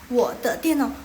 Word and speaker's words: 我的电脑: Tian, now, tian itu nada keempat, now itu nada ketiga.